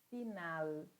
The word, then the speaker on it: final: Eu tenho que dizer final, fatal. Sempre que nós falarmos a letra L em espanhol, nós vamos segurar essa pronúncia no céu da boca.